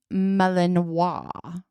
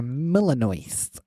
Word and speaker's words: Malinois: It's called a Belgian Malinois or a Belgian Shepherd. So it's like a Millinois. A Malinois. Millinois. Like Brunois.